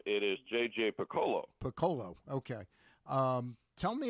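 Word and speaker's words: J.J. Picollo: a a freshman manager in Matt Cortaro uh JP J.P Piccolo right is that the GM it's actually uh well it's an uncommon pronunciation on the uh on the name it is JJ Piccolo Piccolo okay um tell me a list JJ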